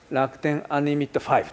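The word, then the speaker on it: Rakuten UN-LIMIT V: うのは、楽天アンリミット 5 と、V と書いてありますけど、これを 5 と読んでいただいて、楽天ア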